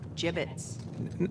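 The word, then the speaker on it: Jibbitz: Avery had some gibbits left over. Jibbits? What? It's pronounced jibbits.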